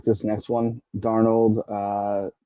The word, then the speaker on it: Darnold: Is it Sam Darnold or Sam Darnold? Arnold. Is it being silent? I never knew. I meant to ask this the other day. It's Darnold. Darnold.